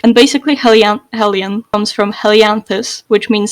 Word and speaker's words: Helian: Is it the name Helian, right? We talked before the podcast and mentioned how like Bendo, for example, pronounces it Helian, which and I nearly started pronouncing it wrong. I'm glad I stuck with Helian because otherwise I would have followed suit with him.